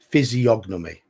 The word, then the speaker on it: physiognomy: fan of ice hockey physiognomy so that you do pronounce the G okay I'd never have